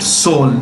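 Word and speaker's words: Seoul: capital as well soul how do you pronounce it soul the e is silent okay and the president to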